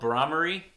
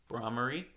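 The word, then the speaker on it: Bhramari: The humming one, with your fingers covering your eyes and thumbs plugging your ears, is called Brahmari. Pretty sure I'm pronouncing that correctly. Brahmari.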